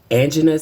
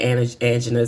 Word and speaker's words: angina: And I've developed this condition called angina. Some people say angina, some people say angina, but it's spelled Angina.